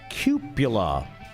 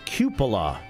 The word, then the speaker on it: cupola: And he says, it's cupula. It's cupola. It looks like cupola.